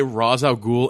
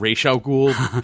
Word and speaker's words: Ra's al Ghul: noticed that in arrow they quite blatantly say Ra's al Ghul and Rachele cool like well like back and forth like throughout the entire episodes and I'm like well